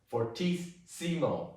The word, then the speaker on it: fortissimo: One of the interesting things that I really like about Italian is that when you have a double consonant, you have to pronounce it on both sides, like fortissimo.